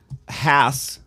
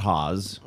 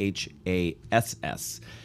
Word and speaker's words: Hass: to change it to h-a-s-s and it's pronounced hass like your rear end that's the easiest way